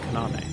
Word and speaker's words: Kaname: Madoka Kaname. There we go. I had a weird... I don't know. What was it? Inflection? Tone? Where you... Intonation, I think, is the one. I emphasized the wrong syllable.